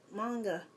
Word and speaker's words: manga: take in Japanese class, so M-A is not me, it's ma. And manga is pronounced manga.